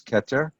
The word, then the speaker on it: Keter: human body look at the very first one ketter ketter means crown in each case the hebrew word beneath the hebrew word is the pronunciation so this is ketter and the meaning of that word is off